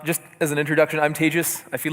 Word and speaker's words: Tejas: as an introduction I'm tagis I feel like I shouldn't do this because I've been doing this the whole day if you've wondered how to pronounce my name it's like contagious don't worry I'm not